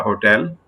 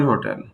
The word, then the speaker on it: hotel: With some words we can either pronounce H or not, for example, a hotel or an hotel.